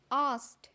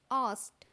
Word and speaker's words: asked: अब अगला वर्ड देखिए आस्क्ड। आस्क्ड ASKED, आस्क्ड। Last में डी का साउंड जो होता है वो टी में बोला जाता है, मतलब ट साउंड आता है।